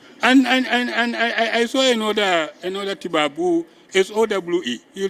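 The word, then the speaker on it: Sowe: Those are colonial pronunciations, and we continue on using them. Huh? And I saw another Tibabu, S-O-W-E.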